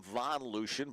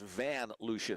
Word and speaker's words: VanLucian: I was calling him Von Lucian, but now I read my handwriting. It's VanLucian. Van. I thought you were just being fancy with how you're pronouncing the A.